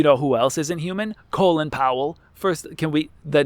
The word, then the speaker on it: Colin: Colon Powell. His name is pronounced like colon because his parents are too illiterate to figure out the right pronunciation.